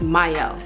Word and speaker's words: Mielle: Also, this is pronounced Mielle, so just putting that out there.